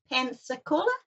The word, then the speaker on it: Pensacola: to hear youan um how do you pronounce that Pensacola pensacol that's it oh so I am pronouncing it correctly okay you are you